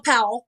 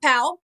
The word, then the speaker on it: Powell: So your family's from Powell, which we call Powell, right? So Powell, it's P-A-L, Powell. But it is spelled Powell, Powell, but we call it Powell.